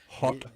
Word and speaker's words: Haute: Hot dogs. H A U T E. How do you say how do I say hot in the French way? Is it hot?